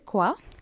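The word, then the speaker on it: qui: Next word வந்து குவா, குவாந்தா என்ன. அடுத்தது வந்து இப்போ, இப்போ வந்து கான் சொல்ல அந்த கடைசியில் வர டியை நீங்கள் உச்சரிக்கக்கூடா, ஸோ சைலண்ட்டாக இருக்கும், கான், கான்.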